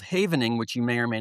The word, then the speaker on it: Havening: It's spelled h a v e n i n g, Havening. Oh, just like it sounds.